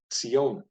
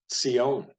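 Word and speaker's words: ציון: is the word for Zion and this is pronounced not with a z but with a Sadi a Tas sound cione can you try saying that Sione so Mount Zion the holy city part of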